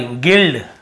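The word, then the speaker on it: guild: यहां पे गाइड sorry गिल्ड गिल्ड लिखा हु क्या लिखा हु गिल्ड देखिए गिल्ड यहां पर भी हम यू को नहीं पढ़ रहे हैं फिर देखिए गिल्ट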